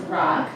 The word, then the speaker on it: Rauk: My last name is pronounced Rauk, like rock and roll.